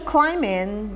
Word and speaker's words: climbing: He says, social climbing, the B is silent. Social climbing, not climbing.